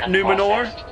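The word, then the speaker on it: Númenor: like ah you know just roll your army numenor that's how you pronounce it yeah it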